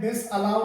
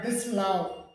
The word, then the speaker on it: disallow: इसी तरीके से ये DISALLOW, इसको अलग अलग बोलते हैं डिसअलाउ करके, डिसअलाउ, जो गलत है। जबकि इसका सही प्रोनाउंसिएशन जो होता है डिसलाउ, डिसलाउ करके होता है।